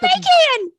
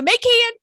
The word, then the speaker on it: Macan: It's the Macan. Is it a It's the Macan? It's Is it the a Macan? Well, it's the Macan. Macan.